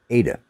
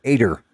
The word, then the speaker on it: Ada: who was named Ada Ada was how you pronounced her name Ada but they all called her ater in our honey yeah yeah as my innator and there was no R in her name and by the way